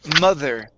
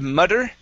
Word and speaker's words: mother: Next we have the word mother. Okay, instead of mutter, okay, give me a good TH here. Mother. Mother, mother. Okay, place your tongue between your teeth.